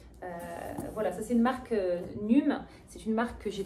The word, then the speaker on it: NUUM: Donc cette marque ici, c'est la marque NUM. Ça s'écrit N-U-U-M.